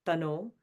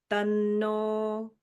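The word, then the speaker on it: तन्नो: So it's like not tano. Tanno. So you're holding that n a little bit, okay?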